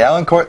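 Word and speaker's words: Élancourt: team again it's the allen court templars so it's e-l-a-n court but they don't pronounce the t which throws me off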